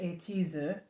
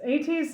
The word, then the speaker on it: ATEEZ: And if you're in Korea, you pronounce it Ateez. Oh, in here I would say Ateez, so now I say Ateez.